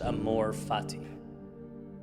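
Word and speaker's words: amor fati: relative cost really is there's a Latin phrase pronounced Amor fatti it's one of the more powerful ideas I've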